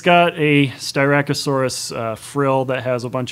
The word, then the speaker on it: Styracosaurus: So I think that the second species that we see of dinosaur in the film is, correct the pronunciation if this is right or wrong, Styracosaurus? The Styracosaurus.